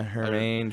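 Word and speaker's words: Germán: Yankees pitcher Domingo Germain, I think is how you say his name. Do you know? Yeah, Hermain, Hermain, one of yeah.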